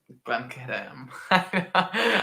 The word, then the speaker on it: Glencadam: Yeah, Glencadam. I'm so bad at Scotch pronunciation, guys.